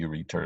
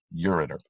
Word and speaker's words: ureter: goes that you return i'm saying it wrong so you can now sing it wrong so you'll spell it right ureter you are ET ER that's normally the way you pronounce it okay don't forget your